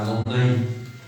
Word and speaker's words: Adonai: Y al poner algunos signos para que no se dijera Yahvé, entonces se pronunciaba Adonai, ¿sí?